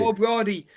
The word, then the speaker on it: Ó Brádaigh: Yeah, and O'Brothy. O'Brady.